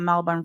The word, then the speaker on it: Melbourne: And I know he gets that from Clarahondra, because what does he know about Melbourne, Florida?